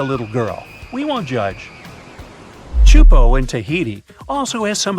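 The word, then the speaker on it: Teahupo'o: all the name itself is a mouthful it's pronounced chupo and it means broken skulls in tahan yeah you heard that right broken skulls the way waves at chupo are massive and can reach up to 23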